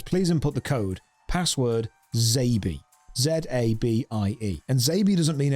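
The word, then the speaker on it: XABY: manual where it said, Zabi is phonetic. It's related to the SNES controller. You have to press X-A-B-Y, which will be pronounced Zabi.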